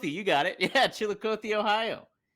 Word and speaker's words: Chillicothe: Chillicothe. Chillicothe, you got it. Yeah, Chillicothe, Ohio.